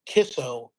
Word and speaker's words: Kicco: It's spelled Kicco, but it's pronounced Kisso, which I found really interesting.